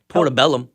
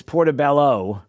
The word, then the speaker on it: portobello: took footstep come on portabellum portabellum yes those those are my favorite mushrooms are portabellums is that how you say it it's portabello whatever but that's okay